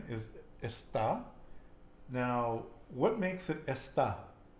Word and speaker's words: está: So think about where I'm putting the emphasis on the word. Está, where am I putting the emphasis? On the A, But where, in the beginning or the end? the N, And why am I doing that? What is there above the A? an accent. An acento.